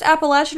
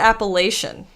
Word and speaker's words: Appalachian: Is it actually pronounced Appalachian or is it Appalachian? It just depends on where you're from. Yeah, that's what I thought Where too. you're from. Half of the people will tell you it's Appalachian, and then other people